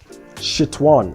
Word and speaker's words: Nxtion: Cally, I can see this Nxtion.